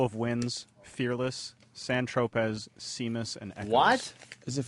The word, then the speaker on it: Seamus: That's typically pronounced Seamus, right?